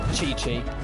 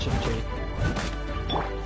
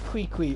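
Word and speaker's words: Qiqi: And yes, it is Chi-Chi. I know it's spelled Q-I-Q-I, but it's pronounced Chi-Chi.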